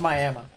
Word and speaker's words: Miami: there Northeastern oklah moment yes it's pronounced Miama um you'll be able